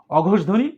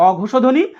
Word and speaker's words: অঘোষধ্বনি: এই উচ্চারণটা একটু খেয়াল করো, অনেকেই আমি দেখেছি ভুল উচ্চারণ করে, বলে কি জানো, অঘোষধ্বনি ঘোষধ্বনি। না, এখানে তো মূর্ধন্য ষর নিচে হসন্ত দেওয়া নেই, এটা তো বদ্ধাক্ষর না, এটা মুক্তাক্ষর হিসেবে ধরতে হবে, অঘোষধ্বনি ঘোষধ্বনি।